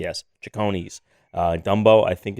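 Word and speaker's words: Cecconi's: c what is it oh chicony's you're pronouncing it right c-e-c-c-o-n-i apostrophe yes chicony's uh dumbo i think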